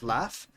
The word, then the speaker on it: laugh: The word laugh is pronounced with a f sound, right?